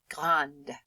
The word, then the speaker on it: grande: So when you say grand in the masculine form, you can't hear the D. But if I add an E to the end of it and I have to make it feminine, grande, it does change the pronunciation.